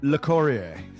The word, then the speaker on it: Locorriere: I think it's a Locorriere or something like What's he How do you pronounce his name? Locorriere.